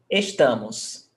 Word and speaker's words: estamos: Now, estamos. Which one is the stressed syllable? Estamos. The Tá. Second last? Yes, second last. Tá. So it's paroxítona. And paroxítonas ending in OS don't have the accent. So, no accent there.